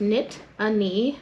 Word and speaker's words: Nittany: looms over State College the origin of the name Nittany is derived from the Native American words Loosely pronounced knit a knee a reference to the